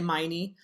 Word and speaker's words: Meine: david help me understand help me pronounce your last name correctly because i want to say miney that's correct that's correct yeah i got it right so carla and